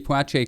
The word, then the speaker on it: Poitier: famous actor sidney poitier i looked up how to pronounce it i've always said poeche i've been saying his name wrong but it's poiche yeah but sydney he